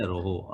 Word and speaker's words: rho: और ये इसको प्रोनाउंस करते हैं रोहो, RHO। और ये क्या होता है, दिस इज इलेक्ट्रिकल रेजिस्टिविटी।